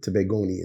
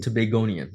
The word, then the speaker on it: Tobagonian: demographic uh Lucian and toan is that how you say it tobagonian tobagonian all right I stand corrected um tell me about